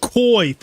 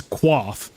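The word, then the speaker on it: coif: and tell them that the original pronunciation of it is qua if you look at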